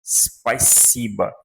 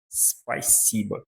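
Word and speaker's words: спасибо: Então, nós pronunciamos isso aqui como spaisiba, spaisiba. Quase como se aqui tivesse um I fraquinho, spaisiba. E A porque esse O não é tônico. A sílaba tônica aqui é o si.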